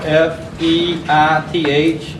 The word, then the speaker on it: Feith: The first name is Kenneth, and the last name you spell F-E-I-T-H, rhymes with Keith. I guess it's pronounced Feith, I'm not sure.